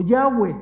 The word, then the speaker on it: Yahweh: Es el tetragramatón, que son 4 consonantes, y que ahora los estudiosos bíblicos encontraron que el sonido más cercano no es Jehová, sino Yahweh.